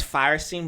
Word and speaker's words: Feuerstein: You say it like it's Firestein, but it's like F-U-E-R-S.